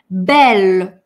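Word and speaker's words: belle: «Бель». Смотрите, «э» на конце мы, конечно, не произносим, помните это, да? «Бель». Зачеркиваю «э». «Эль» как одна, за одну букву считаем и произносим ее мягкой.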